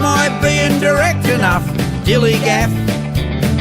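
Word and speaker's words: DILLIGAF: that's spelled D i l l i g a f dilig and this is what it means do I look like I give a Dilly G am I being direct enough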